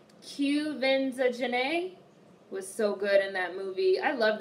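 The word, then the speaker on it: Quvenzhané: now you guys have told me how to pronounce this girl's name Cubans are janay was so good in that movie I love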